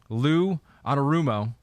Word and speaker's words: Lou Anarumo: 2001 this is damn okay bengals defensive unit lou anarumo is doing an amazing job with this unit